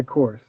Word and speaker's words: Kors: It's Korstiaan, but I go by Kors. So so Kors Dion or no, Kors.